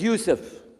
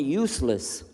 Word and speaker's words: Yousef: Shalom my name is Yousef he say Yousef he said you said you're very good I wish you teach my wife she keeps mispronouncing it she calls me useless ha ha hum delenn